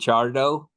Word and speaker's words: Charo: okay good good good Charo yes do you row your RS yes if you want to